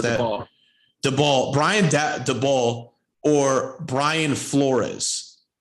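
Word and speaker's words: Daboll: However, I'm sorry, how to pronounce that? DeBall.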